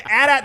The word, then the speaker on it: AT-AT: It's been AT-AT since the very beginning. Lucas calls them AT-ATs.